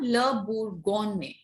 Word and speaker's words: Bourgogne: The second G in the word is silent. Okay. So what does it become? Le Bourgogne.